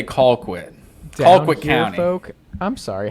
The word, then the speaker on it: Colquitt: Because that is pronounced Colquitt, sir. It's Colquitt. It is. That might be how it's spelled to you, but us down here, folk in Georgia, we say Colquitt.